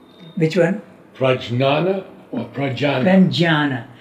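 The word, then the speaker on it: prajñāna: Pranjana. It is J and Y combined. Like you have... Prajnana. No, you don't say Prajnana. You don't say the N.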